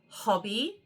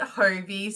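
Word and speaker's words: Hobbii: Okay, some of these um Hobie yarns or should say it's actually pronounced Hobby and I always call it Hobie.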